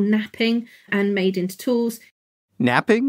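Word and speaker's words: knapping: and made into tools napping like they needed to take a nap from making tools napping is a way of shaping a stone and it's actually spelled with K it's not like falling asleep taking a nap different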